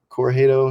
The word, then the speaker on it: Corugedo: like threes and then dots with threes dot corjado it's my last name c-o-r-u-g-e-d-o it's it's hard for everyone to pronounce um yeah or you could just you